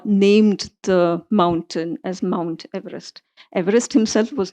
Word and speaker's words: Everest: name because I'm saying Everest but that's not how he pronounced his name. He pronounced it Everest. Everest.